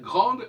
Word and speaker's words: grande: Par exemple, je dis grande, je ne prononce pas le E. Le E me permet de dire grande et non pas grand.